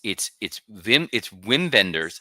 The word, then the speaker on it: Wim Wenders: I'm gonna say it wrong, so I want to make sure that So it's Wim Wenders. It's spelled Wim Wenders, but it's Wim Wenders.